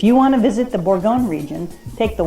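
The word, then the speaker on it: bourguignon: known French dishes come from right here beef borgon is how you say a burgundy style stew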